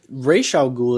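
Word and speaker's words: Ra's al Ghul: mhm first off I Raa goul is like the more proper way to say it like that's just how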